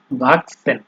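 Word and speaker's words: wachsen: এরপরে হচ্ছে আপনার সি, এইচ, এস, এগুলো যখন একসাথে বাক্যে আহ, ব্যবহার হবে, ঠিক আছে, তখন তার উচ্চারণ অনেকটা আপনার ওই এক্স আছে না, এক্স, ইংলিশে আমরা এক্স কোনো ইয়েতে সেন্টেন্সে তাইলে আমরা যেভাবে উচ্চারণ করি ওইভাবেই হবে, এক্স বা কে এস, এই দুইটা যে কোনো একটা বলতে পারেন।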